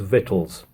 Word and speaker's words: victuals: I'm also going to start pronouncing the word victuals as vittles because I think that might be how it's pronounced and it's easier to